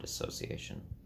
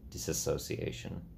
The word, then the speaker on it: dissociation: for the longest while I've been pronouncing that disorder well the disorders in that category wrong I think I've been saying disassociation which is technically what